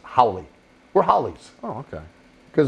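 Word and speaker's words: Howle: holly holly howly howly h.o.w.l.e i pronounce it howly we're hollies oh okay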